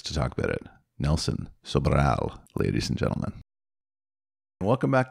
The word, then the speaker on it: Sobral: He told me to say it like that. Sobral. You have to roll the R.